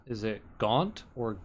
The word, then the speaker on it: Gont: never tell what this guy's name is it Gaunt or Gom? Because it's pronounced Gaunt. both ways. I It's would stake my life on it. it's Gont. That's how it's spelled.